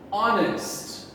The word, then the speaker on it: honest: to speak about him last air the h is silent we do not hear it honest honest we do not say honest this h